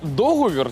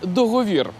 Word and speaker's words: договір: різні Але усі правильні бо наголос у цьому слові подвійний договір договір договір зафіксували